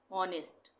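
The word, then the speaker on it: honest: ऑनेस्ट, इसको हम हॉनेस्ट नहीं बोलेंगे, एच साइलेंट है, ऑनेस्ट।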